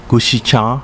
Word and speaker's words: Gushikawa: was formed in 2005 with the merger of gushikawa ishikawa katsurang and yonogusuku pronounced gushicha ishicha kaching and yunangoshiku respectively in uchinanguchi it